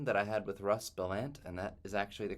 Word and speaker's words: Bellant: to this conversation that I had with Russ bellant and that is actually the correct way to pronounce his name um and you want to